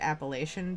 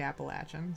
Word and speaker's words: Appalachian: was in school uh we we used to pronounce it appellation because I'm not from here um which I I learned is wrong so it's actually Appalachian so but uh that's